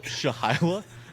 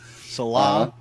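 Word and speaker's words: Saleh: just call Robert Salah shahila I just miss I have never heard that pronunciation of his name I've heard Shala Sal Salah Salah you said sh yeah and then the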